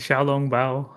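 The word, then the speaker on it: xiaolongbao: Shalom Bao? The Xiaolong Bao, as I was Yeah, like taught that.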